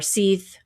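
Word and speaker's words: seiðr: several times in that depending on what country which which uh Scandinavian country you're in will actually determine how this is pronounced. So it could be saith sther or seith depending on where you're at.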